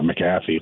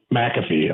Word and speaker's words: McAfee: Cole had with uh maffy last week uh or I'm saying his name wrong aren't I but mcafe that was McAfee okay uh that that